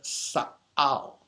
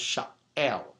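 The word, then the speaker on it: שָׁאַל: The word "ask" is the Hebrew word sa'al, sometimes pronounced sha'el as a primitive root, which means to inquire, to request, to demand, to lay charge of, to earnestly inquire.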